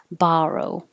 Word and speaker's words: borrow: are fine this one looks like an o but sounds like an ah borrow borrow this one looks like